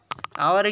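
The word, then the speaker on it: hour: হয়েছে আওয়ার ঠিক আছে আওয়ারে কিন্তু এইচ এর উচ্চারণ এইচ এর মত হয় নাই আওয়ার ওয়ার ওয় এর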